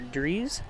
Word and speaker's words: Drees: Now his last name is spelled D R R D R E S. But like Drew Brees is isn't that B rees as well. So this should be Parker Drees.